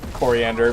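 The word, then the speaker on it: Koriand'r: So, and we know it's supposed to be pronounced coriander because the name they give her for, you know, trying to be a human is corianders.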